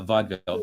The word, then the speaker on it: vaudeville: so yeah vaudeville yeah i don't think you pronounce that middle e uh vaudeville but it's a it's